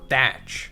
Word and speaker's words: Teach: known as Blackbeard and he was called Edward Teach and pronounced Edward thatch Oda manipulated his name